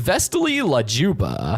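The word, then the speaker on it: Vesti la giubba: The song that plays as Banana Joe points to Gumball and Darwin is the Vesti La Gubita, pronounced Vestili La Juba, by Ruggiero Leoncavallo.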